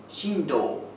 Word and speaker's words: Shinto: them together today all right let's get started shinto is maybe a more common word in america than japan if you ask many japanese people what is shinto or sometimes pronounced shindo many people are a little confused they don't